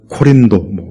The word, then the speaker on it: 고린도: 4 소아시아 책이 있는 이 코린도 뭐 이렇게 뭐 원래 발음으로는 그럴 수도 있지만 우리는 이제 고린도 아 그렇게 그냥 우리 식으로 그래서 고린도 지역에 있는